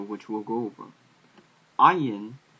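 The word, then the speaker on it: עין: Ayin in modern Hebrew is pronounced similar to Aleph, but in ancient Hebrew it was probably pronounced more similar to the Arabic, which is ayin, sort of like you're going from the very deepness of your throat.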